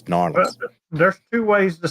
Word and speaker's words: New Orleans: Orleans and New Orleans it's really New Orleans not New Orleans it's norleans there's two ways to